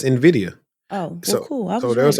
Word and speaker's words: Nvidia: Nvidia that's how you say it no it's Nvidia oh cool so there was an article that came out say hey if you've been saying Nvidia you've been saying it wrong because Nvidia but